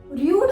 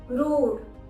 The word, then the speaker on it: rude: इसको हम रूड नहीं बोलेंगे, सही प्रोनाउंसिएशन है रूड।